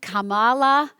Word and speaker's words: Kamala: And that woman, Kamala, she doesn't seem very nice. Say her name. Get it right. Sounds like Kama. Kamala. She has grit.